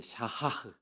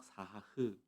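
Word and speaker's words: שחה: 지난주에 나누었던 예배의 첫 번째가 이제 샤하흐 그래가지고 히브리 말로는 사하 또는 이제 간단하게는 뭐 샤하 이렇게 얘기하는데 사실 히브리 발음이 굉장히 약간 좀 어렵습니다. 뒤에 샤하하고 뒤에 히읗이 사실 하나 더 붙는데 그것을 그냥 편의상 사하흐 이렇게 표현하기도 하고요.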